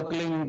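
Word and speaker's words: क्लीं: की मात्रा और बिंदी उसका उच्चारण होगा क्लिंग ग ग कीले पीछ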